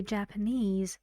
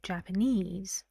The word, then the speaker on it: Japanese: use distress like this when you say Japanese you say Japanese the stress goes on the second syllable unease but what would